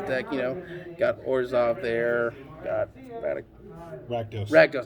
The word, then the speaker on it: Rakdos: Got Rakdos. I can never pronounce the die. Keep want to call him Radicos for some odd reason.